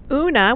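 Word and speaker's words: ūnā: whatever caesar had ordered una with a long a we've seen before so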